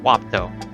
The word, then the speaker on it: wapato: Surrey experimented with planting wapato, sometimes pronounced wapto.